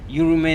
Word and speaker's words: Yurumein: They were not living in Saint Vincent, they were living in Yurume. Yurume is spelled Yurumein.